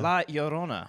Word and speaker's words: La Llorona: The two L's make a Y.